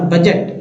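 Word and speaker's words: budget: है D silent freeze और बजट बजट में जो है डी साइलेंट बजट क्या है बजट में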